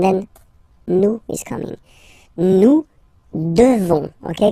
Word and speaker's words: devons: Nous devons. Okay? Classic ending O-N-S for nous. Okay? You just pronounce this on, O-N, this nasal. Okay? And then the S, final S is not pronounced.